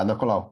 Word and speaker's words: Ada Colau: I wanted to ask you what you think about the mayor of Barcelona, Ada Colau. Did I pronounce her name properly? Yeah, Ada Colau.